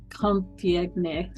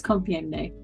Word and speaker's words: Compiègne: I listened to so many different pronunciations of that name, but I think it's Compiègne. The guy who said it that way sounded the most French, so I'm going with that.